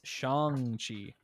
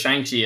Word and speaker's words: Shang-Chi: movie they're like oh no it's shangchi okay and i'm like oh i don't know chinese names very well oh i can't yeah yeah because of the cause if it was shanky it'd be spelled with an x ah okay i'm glad